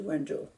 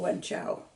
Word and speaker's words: Wenzhou: And then she returned to Wenzhou, which we used to call Wenchao when I was growing up. But the pronunciation changed during the 20th century.